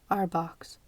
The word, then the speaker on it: RBOCs: regional Bell operating companies or rbocs pronounced rbox Bell was a Titan